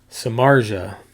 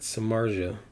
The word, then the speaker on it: Samardzija: become really really obvious samartha man I butchered that Samardzija it seems obvious now